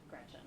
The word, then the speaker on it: Gretch: But I'm named after my grandma Gretchen, who I adore. It's funny though, because she always said, never let anyone shorten your name. Don't let people call you Gretch because it rhymes with wretch.